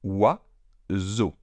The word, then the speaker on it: oiseau: Donc oiseau. Je signale aussi que le trigramme EAU se prononce O en français. Donc, oiseau. Le S étant entre 2 voyelles, on prononce un S sonore.